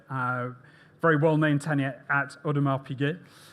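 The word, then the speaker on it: Audemars Piguet: uh his tenure uh very well-known tenure at Odmar Pig. I I hope I've pronounced that correctly.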